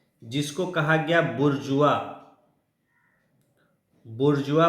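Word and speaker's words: bourgeois: जन्म दिया ब्रिटेन में जिसको कहा गया बुर्जुआ बुर्जुआ प्रोनाउंस करते हैं है ना उसको कहा गया मिडिल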